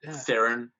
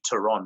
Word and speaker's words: Theron: charlie's turon as well or theron as we probably pronounced it there but actually the actual surname is actually tehran i don't know if you know that or not but that's actually the south african way of pronouncing it but she's she's also